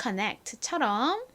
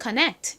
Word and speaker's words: connect: 왔어요 그러면 c n 어떻게 될까요 앞에서 봤던 connect처럼 기억 받침으로 들어갑니다 그리고 끝에 는요 트 소리가